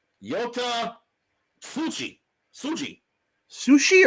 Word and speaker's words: Tsuji: Sushi or Suji? Suji. Tsuji. Oh.